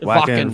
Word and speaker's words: Wacken: Wacken Open Air. I think that's how you say it. Wacken. Wacken. It's Wacken. Yeah, I've heard a couple different ways.